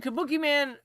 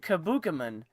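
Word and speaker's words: Kabukiman: I watch um uh Jason Jason Benet's videos and he pronounced it Sergeant Kabukaman. I'm like, "Wait a minute. Has he not seen Sergeant Kabuki Man?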